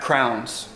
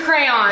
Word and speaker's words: crayon: a crayon it's Crown it's a crayon that's how you say it it's literally spelled c-a-c-r-a-y-o-n cray on crowns that's c-r-o-w-n that's something that goes in your head that you will